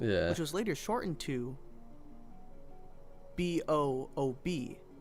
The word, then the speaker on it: BOOB: This strategy was dubbed Boxes Out of Bounds, which was later shortened to BOOB. It's called BOOB, and it's pronounced exactly like that. Boob.